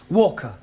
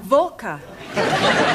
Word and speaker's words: Walker: Walker Walker what w is pronounced what your employer's name is Walker yeah volker do you know how many shots mrs.